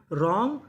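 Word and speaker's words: wrong: Right retain रॉन्ग wrestler. तो rule क्या था? अगर आपको आर से पहले डब्ल्यू लिखा मिले तो हमें डब्लू का उच्चारण नहीं करना।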